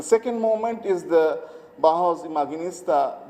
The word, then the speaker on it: Imaginista: The second moment is the Bauhaus Imaginista. They call it Imaginista, so I'm pronouncing it in a German way, corresponding with that section.